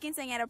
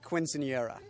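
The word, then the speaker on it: quinceañera: birthday party I had quinceanera practice it's pronounced quinceanera so you're wrong and you're fired so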